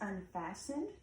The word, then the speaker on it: unfastened: That word is unfassened. That T is silent.